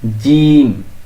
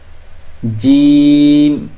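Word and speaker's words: جيم: এই হরফটা একটু শক্ত করে বলতে হবে, সেটা হচ্ছে জিম, এইভাবে, জিম, এইভাবে। খেয়াল করুন, জিম, এইভাবে।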